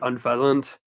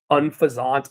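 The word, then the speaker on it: Unfezant: And then yeah, uh gosh, I don't like unfasant or unfazant. I don't know how I'm supposed to pronounce it. I I think unfasant because it sounds like unpleasant, which fits this thing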